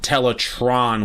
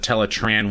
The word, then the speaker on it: Teletraan: pronunciation on certain things I don't like how he says tell a Tron one instead of teletraan one it's just one of